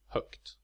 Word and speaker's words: högt: For example, the neuter form of hög is pronounced högt, and stövel is, as you hear, pronounced with a short vowel.